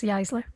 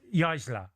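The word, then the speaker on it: Jaissle: How do you pronounce his name again? Matthias Jaisler. Jaisler.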